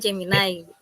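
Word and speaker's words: Gemini AI: pembelajaran berbasis jeminiai ya memang tulisannya sih Gemini tapi dibacanya jeminiai gitu nah izin saya share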